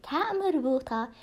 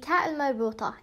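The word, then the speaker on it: تاء مربوطة: see ending up with the ta marbuta, it is simply a female word, a phoneme word.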